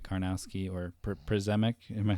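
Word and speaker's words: Przemek: I want to see another game with Shimmick Karnowski or Przemick. Am I saying it right, Lucas? It's spelled Prismac, but it's pronounced Shimmick.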